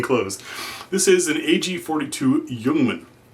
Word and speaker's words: Ljungman: this is an ag42 yungman I know it spelled a little weird but y's how it's pronounced I don't speak Swedish